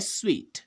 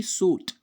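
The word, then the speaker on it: suite: जैसे the bedroom has a bathroom on स्वीट, ठीक है ना, तो इसका जो सही उच्चारण क्या है वो है स्वीट, ना कि सूट।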